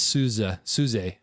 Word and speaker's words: SUSE: We're SUSE, and it's SUSE, I believe, is the proper way to say it.